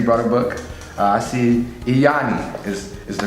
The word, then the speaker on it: Lyani: I see Lyani is the correct pronunciation of it.